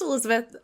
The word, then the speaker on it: Elisabeth: Is it, because your name is spelled differently as we looked at the show notes, is it Elizabeth? Elisabeth? Is it like a weird, or is it just Liz? Just Elizabeth.